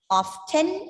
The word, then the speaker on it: often: That is, as per the British people, both often as well as often are accepted. But normally we use this word, we pronounce this word with a silent T, right? Often.